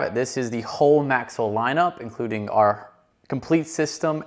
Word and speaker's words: MAXL: There's a lot of different ways we've heard it been called, but it is MAXL, and you can think about it as like Axle with an M in front of it, MAXL.